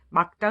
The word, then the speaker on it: 맑다: 인데요 가짜 뭐 볼게요 맑다는 막 따로 발음을 한데요 밀 기억 받침 인데 기억 소리만 나죠 그렇죠 한번 발음해 보세요 맑다는 막다 로 발음합니다 벽 받침 윌 개혁이